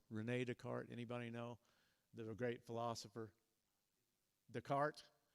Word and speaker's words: Descartes: Descartes. It's spelled like it should be with an S at the end, and so it always throws me.